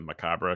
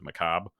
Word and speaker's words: macabre: When I first started the channel, I pronounced it macabre because that's how I thought you pronounced it. Turns out the R and E are kind of silent, so it's macabre.